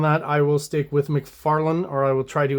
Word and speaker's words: McFarlane: how to pronounce names apparently it's Todd McFarland and not Todd McFarlene uh the debate is